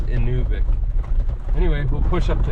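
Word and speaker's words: Inuvik: anuic inic yeah anuic I was saying it wrong all these years in I used to say in yic with a u but they they told me uh the local said it's inic anyway we'll push up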